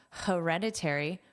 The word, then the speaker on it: hereditary: Notice that H is pronounced h hereditary.